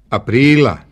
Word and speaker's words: aprila: Bila, aprila. Očigledno je da glagolski oblik bila ima akcenat na prvom slogu, ali imenica aprila ima na drugom.